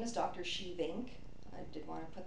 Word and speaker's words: Schievink: Shevink. I did want to put that out there too. It's spelled SCHIEVINK.